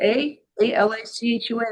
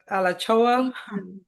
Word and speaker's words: Alachua: Is it A-L-A-C-H-U-A? I think that's Tallahassee. Alachoa. Oh, Alachua. yeah, Alachua. It's hard to pronounce.